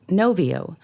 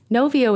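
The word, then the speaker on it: Knovio: can try something like novio that's spelled k-n-o-v-i-o novio is a platform where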